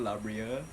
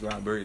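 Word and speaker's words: La Brea: this year I went Labria. Labre? Yeah, You went Labre? that's how you pronounce it. I thought it was Labria. No, it's Labre.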